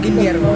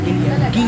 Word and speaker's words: Guillermo: one Justin at Josh sa Spanish pag dalawang l y ambassador yung bambo So yung guilermo hindi siya Guillermo guero guero area so paanung wallet